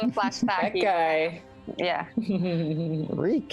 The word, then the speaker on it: Reek: Reek, it rhymes with week.